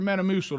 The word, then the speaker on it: Metamucil: Metamucil.